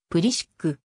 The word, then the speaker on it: Pulisic: 後は英語で自身の名字の発音は英語読みのプリシックしかしクロアチアにルーツを持つためか日本ではクロアチア語読みのブリッジがメジャーの表記となっている祖父がクロアチア